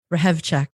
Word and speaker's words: Hrehovcik: to listen to your show on purpose amy rehab check oh my gosh that sounded hot i no